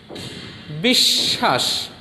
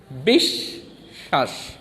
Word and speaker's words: বিশ্বাস: যেমন দেখো বয় রস্যি তালব্য শয় ব ফলা আকা দন্তস্ব, বিশ্বাস। কি হলো? তালব্য শয় ব ফলা, এখানে বয়ের উচ্চারণ হবে না, শুধু ব্যঞ্জন বর্ণ তালব্য শয়ের দ্বিত্ব হবে। বিশ্বাস এর উচ্চারণ কি?